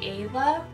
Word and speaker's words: K'Ayla: capital a yla and technically you say a love that's technically how you say it but kayla's fine because it confuses the crap out of everyone so yeah kayla it is that's me girl okay